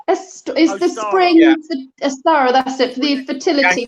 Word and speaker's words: Ostara: I can never pronounce this. Astora is the spring. Yeah. Astara, that's it, for the fertility, pagan fertility goddess. Anglo-Saxon goddess, yes. It's Ostara, isn't it? That's it, Ostara.